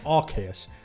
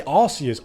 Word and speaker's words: Arceus: there is like a the name is based on something another word which is pronounced a certain way like we talked about last time Arceus this is an Arch Angel but also derived from the word Deus so it's definitely supposed to